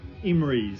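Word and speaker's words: Emreis: Um, yeah, Petus Reborn from Emmery. E M R E I S. That's how you pronounce it.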